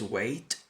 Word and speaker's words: weight: 16 going to lose weight white white white white white a que sólo esa palabra weight esperar se pronuncia exactamente igual que el verbo esperar pero fijaos que se